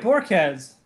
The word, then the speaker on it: Borquez: Oh, I pronounced it right. Borquez.